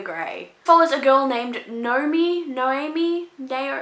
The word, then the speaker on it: Noemi: Follows a girl named Noemi, it's not even Naomi, it's spelled differently.